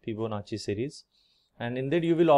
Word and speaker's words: Fibonacci: Marathi we pronounce like Fibonacci but it is actually Fibonacci in Italian so I will prefer the Italian pronunciation Fibonacci series and indeed you